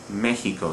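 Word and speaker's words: México: the same rule is the word Mexico. Mexico, again, a word that ends in a vowel, but we stress not the second to last syllable, but the third to last.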